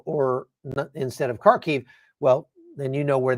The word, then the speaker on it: Kharkiv: Kharkiv was called Kharkov, et cetera, et cetera.